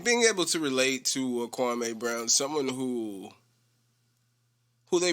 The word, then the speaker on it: Kwame: i'm working on it's called kwame and uh kwami but i'm saying kwame because i feel like more people like more people here that like know him as kwame the pronunciation is kwame that's how stephen a smith made his name